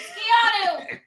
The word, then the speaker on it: Keanu: online won't stop calling me Canoe, so I think that I'm going to become a librarian. That's what I've decided. It's pronounced librarian. You need to fix this. It's Keanu, not Canoe.